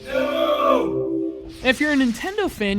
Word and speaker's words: Nnooo: So this game comes from a studio called Nnooo, only it's spelled with 5 letters, so it's like... No!